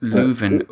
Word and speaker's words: Leuven: but if you leave another is how it's pronounced Leuven would you'd heavily Luverne is the full name